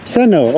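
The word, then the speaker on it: Сайн уу: Seno. Okay, it's easy. Seno.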